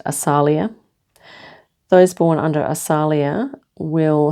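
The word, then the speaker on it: Asaliah: Um so it says here, those born and it's pronounced Asalia.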